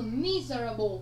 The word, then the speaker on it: miserable: Miserable chúng ta có trọng âm dêm tích thứ mấy? Thứ nhất, đúng không ạ?